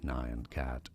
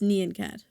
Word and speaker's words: Nyan Cat: So nion cat or neon cat. It's it's neon cat.